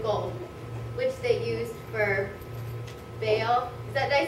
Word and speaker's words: Baal: the silver and gold, which they used for Baal. Did I say it right, Robbie? Baal. Baal, yeah.